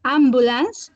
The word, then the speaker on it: ambulance: Some pronunciation. For example, remember ambulance.